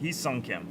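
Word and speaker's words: Hyeseong Kim: He's Hyosung Kim. I remember Hawk said it earlier. It's perfect pronunciation. James Tibbs out of 150 blue. Heesung. That's it. Heesung Kim.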